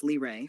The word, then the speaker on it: Lyra: The name Lyra, pronounced Lray, floats forward.